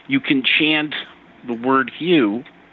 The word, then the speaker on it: HU: You can chant the word hue, which is pronounced like hue is in the color hue.